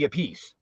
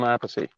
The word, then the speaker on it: Appice: you said it correctly for Vinny, but if it was Carmine, it would be Appice. Yeah, he's Appice. I'm Appice. See, so there's always Really?